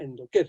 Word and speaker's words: Endocare: de investigaciones específicamente hormonales, se llama Endoker, se escribe Endocare.